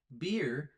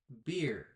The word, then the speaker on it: beer: The difference is that when you talk about the drink, you continue breathing. For example, beer, beer.